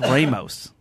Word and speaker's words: Ramos: He's mentioned Ramos Gin Fizz, and he says we've been saying it all wrong. Oh, really? It's Ramos. It's named after a guy whose last name is pronounced Ramos. So Not on this show.